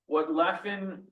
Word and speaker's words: Levin: I do want to underscore that while it's spelled Levin, he comes from Poland in the 18th century. There is a deep influence of German and Yiddish in his language.